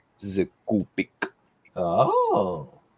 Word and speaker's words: Copic: the Copic one oh okay say it right kopic this is a kopic oh it's but yeah I